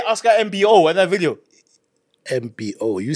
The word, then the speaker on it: Mbo: video how's that wrong no it's it's MBO MBO yeah yeah but okay say